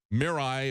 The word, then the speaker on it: Mirai: And then a couple weeks after that, the middle of October, they released this, they call it the Mirai, if I'm pronouncing it correctly, it's M-I-R-A-I.